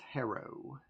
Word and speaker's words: Harrow: It's pronounced Harrow. Yeah. Of course, now I'm overpronouncing it. Harrow. Harrow County. I guess the proper pronunciation is like Harrow County.